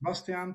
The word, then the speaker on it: Bastiaan: Um If I mispronounced your name, I'm so sorry. Uh hopefully doing great. Bastiaan, perfect.